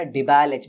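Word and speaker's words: DIBAL-H: Okay, डाइआइसोब्यूटाइल aluminium hydride, इसे pronounce जरा अच्छे से कीजिएगा, डिबैल एच बोलते हैं।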